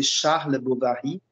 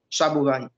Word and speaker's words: Charles Bovary: sa façon de parler au lieu de bien prononcer charles bovary chabot vannes et donc ça spa